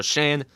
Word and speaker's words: Schoen: Joe Schoen. That was today. Joe Shane. It's pronounced Joe Shane.